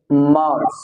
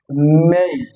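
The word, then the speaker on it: May: এখানে আর যদি বাব হয় বলি আমরা তাহলে উচ্চারণ হবে মার মার মার এখন এই যে এপ্রিলের ভিতরে একটা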